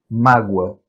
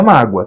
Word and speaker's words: mágoa: tem acento finalzinho Júnior Qual é a sílaba tônica na tem duas sílabas só mágoa então é uma paroxítona e terminada em ditongo Então na verdade só